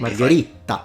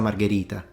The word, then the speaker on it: margherita: But it Margherita. So he puts 2 T. No, it's pizza margherita.